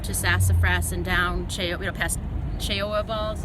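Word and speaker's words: Cheoah Bald: and hike up to sassa fras and down know cha ball is how you pronounce it tooa Gap but because this is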